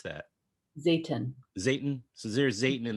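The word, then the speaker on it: Zeytin: How do you pronounce that? Zayton.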